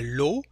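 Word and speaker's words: lot: same thing for a low and low in french is a pack of something a set of something and also a prize so lo we don't pronounce the final t so the sound o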